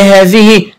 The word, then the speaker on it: هذه: وخلي بالي هذه بها حرف ينطق ولا يكتب اللي هو حرف الألف، تمام؟